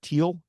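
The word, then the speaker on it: Thiel: to pronounce his name you said teal so the th is a t um uh Nate silver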